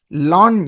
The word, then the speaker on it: ln: Log m to the base e is written as long m that is pronounced as ln m is pronounced as lawn m.